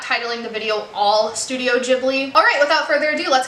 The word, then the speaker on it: Ghibli: You know, this is really embarrassing, but today I just found out it's pronounced Ghibli. As an Italian speaker, I've been saying Ghibli this whole time. Apparently Hayao Miyazaki says Ghibli, so I'm going to try to remember that for this video.